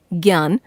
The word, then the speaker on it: ज्ञ: इसके उदाहरण हैं आज्ञा, यज्ञ, ज्ञान, विज्ञान आदि। हिंदी में इसका उच्चारण ज्ञ ग जमा य के रूप में होने लगा है।